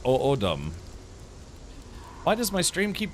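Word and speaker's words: O'odham: So it's pronounced O'odum.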